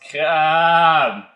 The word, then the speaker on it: Crââbe: It's actually the beer pronounced crââbe. Well, Crââbe, I'm assuming. I think it's the accent on the it's Crââbe. Crââbe. So it's a very, I guess, Acadian way of saying crab.